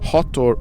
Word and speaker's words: Hathor: And Hathor, if I don't pronounce it correctly, is H-A-T-H-O-R, Hathor.